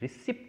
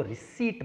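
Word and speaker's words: receipt: The phonetic स्क्रिप्ट of word रिसिप्ट, रिसिप्ट नहीं, इसको पी जो है वो साइलेंट है, इसको रिसीट बोलते हैं। क्या बोलते हैं, रिसीट।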